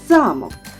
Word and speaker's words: замок: кажуть стоїть під наголосом наприклад слово замок Під наголосом А якщо вона голос переставимо на О то ви не замок А зараз малята пропоную